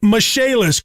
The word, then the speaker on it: Michaelis: restoration and insurance restoration spelled l i m-i-c-h-a-e-l-i-n pronounced mishaelis call 844 fix indie or